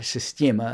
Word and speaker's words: Systema: I was so delighted to see that the Systema people, or Systema as I like to try and pronounce it in Russian, have, like Vladimir Vasiliev